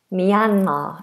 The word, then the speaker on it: Myanmar: And this is Myanmar. Myanmar. Myanmar is how we pronounce it.